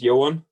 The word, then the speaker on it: Yu-Hsuen: Yu-Hsuen, is that the way to pronounce it? Hi there. Yeah, it's Yu-Hsuen. Yu-Hsuen, okay, sorry about that.